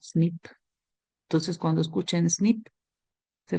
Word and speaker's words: SNP: se le conoce es snp s pero lo pronunciamos nada más como snip Entonces cuando escuchen snip